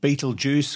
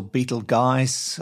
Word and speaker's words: Betelgeuse: to another star called Beetlejuice or Beetle guys there are several ways of pronouncing it Fred's always correcting me because I call it Beetlejuice but that's what I've always known it as now in late